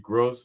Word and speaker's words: Grouse: Oh, yeah, it's funny how it changed from gross to grouse really quickly there. Yeah, because once I spelled it out and realized I was saying it wrong all these years.